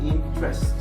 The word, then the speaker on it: interest: So I didn't used to be in just remember in this we never pronounce this e. Okay. We say interest everybody interest everybody interested. Perfect.